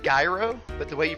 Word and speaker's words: gyro: Yeah, it looks like gyro, but the way you pronounce it is gyro.